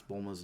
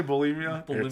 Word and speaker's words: Bulma: through the second episode to pronounce Bulma's name right. He kept saying like like Billy and Bully and Bulimia like at one point like just like whatever you say Bulimia Bulma.